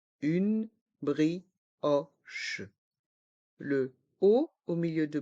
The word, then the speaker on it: brioche: pain au raisin une brioche une brioche le ha au milieu de brioche se prononce o c'est un haut ouvert brioch le C et le H se prononcent che une brioche une brioche